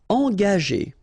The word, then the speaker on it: engager: Engager, okay, so remember that G is a tricky letter, because if you combine it with A, like it's the case here, you will pronounce it ga, okay, but if you combine it with like it's the case here, well, R here, the sound E, it will go like G, okay?